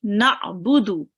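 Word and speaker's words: نعبد: Make sure to read the ain from your throat, okay? Na'budu.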